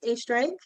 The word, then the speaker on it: Oestreigh: And then my last name looks like ostrich, but it's Oestreigh.